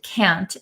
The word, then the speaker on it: can't: and can't so uh a lot of Americans don't pronounce the t's at the ends of words so can can can